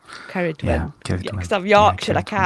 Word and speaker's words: Ceridwen: Yeah, Ceridwen. Yeah, Ceridwen. Ceridwen.